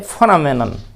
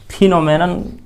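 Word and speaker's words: phenomenon: एक वर्ड है फेनोमेनन, फेनोमेनन, ये फ उच्चारण, फिनोमेनन नहीं, फेनोमेनन, फनामिनन, मी यहाँ उच्चारण मीनन, मीनन, नमीनन, फी फ नमीनन, फेनोमेनन।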